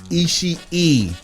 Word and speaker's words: Ishii: Tomohiro Ishii. There are 2 I's. You pronounce both of them on the end. That is 3 I's in the name.